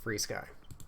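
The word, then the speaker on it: FrSky: makes no sense but it's pronounced free sky ESC we've all used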